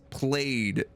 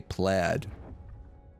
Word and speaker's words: plaid: the delivery play armor I guess that's played for a lot of pronunciations we say plaid in Canadia like old son I